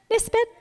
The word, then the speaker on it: Nisbet: How do you say it? Nisbet? Yep, okay.